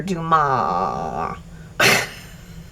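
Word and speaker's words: Dumas: of history with Alexander Dumar. I think it's spelled D U M A S, but it said Duma.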